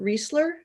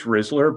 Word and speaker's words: Rizler: Is it Reseller? It's Rizler, but uh as long as it's something somewhat similar, I'll answer. Okay. It's like the licorice.